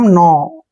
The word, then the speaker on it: know: देखिए KNOW, इसको भी अक्सर कनो पढ़ते हैं। यहाँ पर आप देखिए N से पहले क्या आया है? K, इसमें भी N से पहले K आया था, तो यहाँ पर K साइलेंट रखिए, ठीक है। और NOW को पढ़ेंगे हम नो।